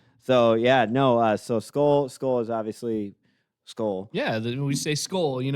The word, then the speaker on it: Skol: cheers but we don't say cheers we say skull.